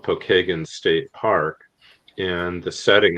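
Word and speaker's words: Pokagon: No, it's a Well, it's actually the name Pokeagan is how we pronounce it here in Indiana. Pokeagan is an Indian uh a Native American tribe.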